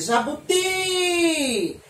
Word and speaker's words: jabuti: ela, eu vou dizer jabuti. Eu demorei mais na última sílaba, não foi? Então, eu tenho jabuti. Então, jabuti é escrito com a letra I, porque a sílaba tônica é a última.